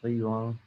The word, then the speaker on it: Brillouin: Now we face two conditions of backscattering, and this is the Brillouin, is a French name, Brillouin. Scattering, you can say, pronounce it in the French way.